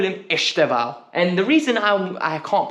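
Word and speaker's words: Estêvão: I'm going to call him Estevao. And the reason I can't pronounce his name is because I've heard 4 different people say it in a different way. Estevao, Estabinho, so many different variations, right?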